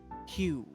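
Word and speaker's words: Hugh: so you can only see one of me q is spelled h-u-g-h he's a silent invisible o doesn't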